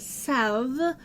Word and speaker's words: salve: Now, for anyone who doesn't know, the word salve, which is S-A-L-V-E, Yeah. and sometimes is pronounced with the L, sometimes is not, depending on who you are.